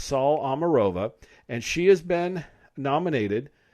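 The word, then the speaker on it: Saule Omarova: by this latest nominee her name is called saul amarova i believe if i pronounce that incorrectly my apologies but it's sol omarova and she has been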